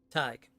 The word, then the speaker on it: Thaig: We are the foundations of the great Thaig. That's how you say it. Thaig. You gotta just take out the A. Thaig.